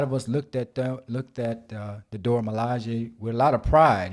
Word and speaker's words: Dora Milaje: Correct me if I'm wrong with the pronunciation. Was it Dora Milaje? Yeah, the Dora Milaje.